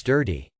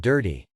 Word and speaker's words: DIRT-T: In the paper, the authors told you dirt T should pronounce dirty. You have to pronounce it dirty.